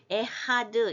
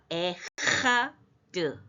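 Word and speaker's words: אחד: 헤트는 요 뒤에 있듯이 이 헤트는 해보다 좀 목을 긁어야 돼요. 이런 식으로요. 그래서 에다가 달렛 문이 됐죠. 아흐는 형제예요. 형제가 문을 함께 가면 연합하고 하나 됩니다. 그런데 이제 아흐는 형제고 에하 할 때 요 짧은 줄 이것이 가장 강한 액센트인데 약간 끊어야 돼요. 그래서 에하드 이렇게 편하게 읽으면 안 되고요. 에하드 이렇게요.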